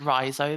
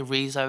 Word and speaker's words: Riso: of thought on that so I pronounce it Riso but you'll hear people say Rizzo and Rizzo there's many different ways of saying it R then and